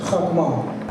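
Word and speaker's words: חכמה: The Hebrew word for wisdom is chokhmah, spelled in Hebrew chet, mem, the Hebrew word for wisdom is chakmah, which is spelled chet, kaf, mem, he.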